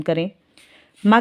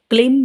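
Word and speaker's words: क्रीं: जाप कम से कम करें। माँ काली का बीज मंत्र है क्रीम। क्लीम भी बोला जाता है इसको, क्लीम और क्रीम नाम से भी इसका उच्चारण किया जाता है।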